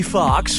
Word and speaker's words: Foxx: in Django Unchained Jamie Foxx Jamie Foxx Jamie Foxx Georgie players 1 & 2 that sounds really baby Fox's last name has two x's in it the first X is silent okay fine I was